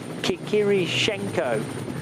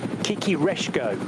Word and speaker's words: Kikireshko: Oh, and a fourth driver, in fact, Oleksiy Kikirishenko of Ukraine. Kikireshko, in fact, is the correct pronunciation.